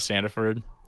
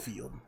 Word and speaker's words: Stanfield: Dude, I watched an interview with Lakeith Stanford. I think that's how his name is pronounced. Stanfield.